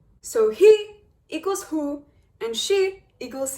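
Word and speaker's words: היא: Now the reason this is difficult is because the way that you pronounce she is he. So he equals hu, and she equals he.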